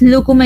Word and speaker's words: lúcuma: En esa alternativa donde dice confiéis, lúcuma y sutil, ¿qué corrección tendrías que hacer? Muy bien. Lúcuma se tilda en la primera U por ser esdrújula. Es la antepenúltima sílaba.